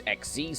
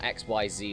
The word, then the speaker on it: Xyz: was also a powerful duelist that could use xz's summons that's how you pronounce it by the way it's not xyz like or xyz like i initially thought it